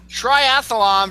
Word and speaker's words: triathlon: We're all sticking another syllable in that doesn't need to be there.